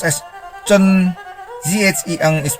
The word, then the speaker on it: zhen: ZHEN is pronounced as chen, ZHEng is pronounced as cheng.